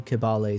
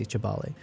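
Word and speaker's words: Kibale: They in Uganda I think they sometimes pronounce the K as a ch, but it's like it's intermingling. Like sometimes they just do kibbal, sometimes say Chabal.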